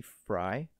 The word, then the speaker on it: Frey: with that one Noah you don't say like Frey it's pronounced fry really Casey fry it's not Frey I always thought it was